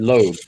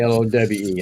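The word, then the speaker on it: Lowe's: and finding out, and I call it Loeb, Loeb, when it's actually Lowe. I know how the word is, know how to pronounce it, but my dad and my neighbor, both older gentlemen, they called it Loeb, so it just kind of stuck with me.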